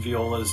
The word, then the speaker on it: Viola: me when you see v-i-o-l-a I think it's Viola because it was a baseball player that used to play for the Twins and the Mets uh Frank Viola so I would never bother